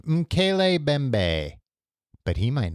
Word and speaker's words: Mokele-mbembe: And maybe that could happen with I have to keep looking up the phonetic pronunciation. Mokele-mbembe.